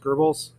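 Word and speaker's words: Goebbels: I think it's pronounced Gerbles.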